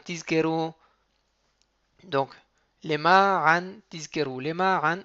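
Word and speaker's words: למען: Lema an, il est toujours mille'el.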